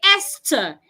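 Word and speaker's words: Esther: word is this word the word has th H but when you're pronouncing it you the H is silent you say eser even though the Americans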